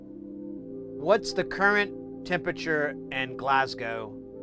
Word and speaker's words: Glasgow: Glasgow. Oh, actually I was I think I thought it had a C in it, but it's a G.